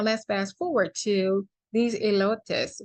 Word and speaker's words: elotes: bag so now let's fast forward to these elotus right so am I saying it right elest elest okay yall know I don't know how to say e l o t es elotes elotes anyway the corn y'all the corn